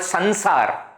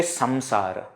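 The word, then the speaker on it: saṃsāra: Because in Hindi, etc., it is called Sansar. Sansar. That Anusvara's pronunciation happens as na. It is okay to do that in Hindi. So when you are talking in Hindi, you can say, Sansar ki to aisi reet hai. But the moment you come to Sanskrit, you say Samsara.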